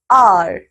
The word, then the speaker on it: hour: First, an hour. B, an honest person. C, an heir. बच्चों यहाँ पे हो क्या रहा है? We have used an before these words too because H is silent.